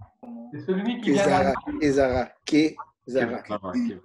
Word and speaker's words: Kevzara: Et donc, ça s'écrit comment? Kevzara. Kev, comme K-E-V. K-E-V-Z-A-R-A.